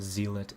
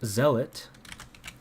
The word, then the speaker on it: Zealot: of the 12 Simon the zelit I said zeit wow total fumble when that's pronounced Zealot let's see yep zet yep totally fumbled that